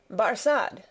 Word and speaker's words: Barsad: "Barsad," said Defarge, making it French by pronunciation.